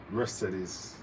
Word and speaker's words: Mercedes: And one of my friends, I asked, how do you all pronounce Mercedes Benz? And she said Mercedes. And I can't pronounce it like her. But it sounds a lot more classy when a German says it, Mercedes.